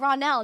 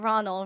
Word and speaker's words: Ronell: Ronald, it's funny because you pronounce my name wrong, but it's okay, because stretch out the Nell to say, so Ronell? Oh, Ronell, not Ronald, Ronell.